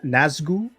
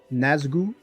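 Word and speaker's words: Nazgûl: How do you pronounce this character or this figure's name? Is it NAZGUL? NAZGUL.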